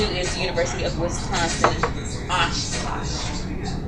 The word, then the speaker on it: Oshkosh: The number 2 is the University of Wisconsin, Oshkosh. Big gosh.